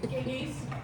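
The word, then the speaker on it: Gygi: So it's not Gigi, it's Gigi? It's Giggy, yes, They have a lot of stuff they do.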